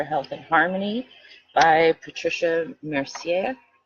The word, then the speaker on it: Mercier: Body's Energy for Health and Harmony by Patricia Mercier. M E R C I E R, which is why I pronounce it with a in more French.